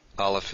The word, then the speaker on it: aleph: written something like this aleph is a silent letter if you want to pronounce it though you could pronounce it as the h in honest the initial ancient honest